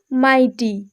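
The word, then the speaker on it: mighty: ফ এর মতো হয়েছে, কিন্তু মাইটি শব্দটিতে GH মাঝখানে আছে এবং তারপরে টি আছে বলে GH এর উচ্চারণ হবে না।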